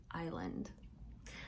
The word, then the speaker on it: island: The mountain sank and became an island. Island is kind of a funny word, isn't it? Because it looks like it's spelled island, but the S is silent. Island.